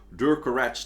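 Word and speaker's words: Durcorach: really short-lived dynasty of like 70 years, where Durkarach the Black Drake, that's how his ghost at least, pronounces his name himself, a Reachman, actually managed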